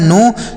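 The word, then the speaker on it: know: अगला शब्द है के एन ओ डब्ल्यू इसे पढ़ा जाता है दोस्तों नो। क्या पढ़ा जाता है? नो।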